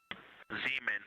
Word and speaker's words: Zeeman: Zeeman. Okay, and can you say the first letter? I may be pronouncing that wrong.